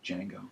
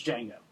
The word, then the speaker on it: Django: I believe the D is silent. The D is silent. It's Django. It's Django.